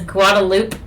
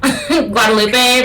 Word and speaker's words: Guadalupe: The one that comes to mind for me in Austin is Guadalupe. Guadalupe, but it's Guadalupe. There's a lot of very butchered Spanish names in Austin.